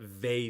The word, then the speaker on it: Vae: And it was not Fae Victus, but Vae Victus.